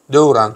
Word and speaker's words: Devran: Benim ismim Devran. Devran. Türkmen dilinde öyle söyleniyor.